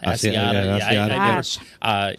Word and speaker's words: Asiata: Asiata? Asiata.